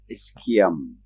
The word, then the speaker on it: ischium: have the fubus and posteriorly we have the ischium some people wrongly call it ish now this is the way it is pronounced now these three bones form the acetabulum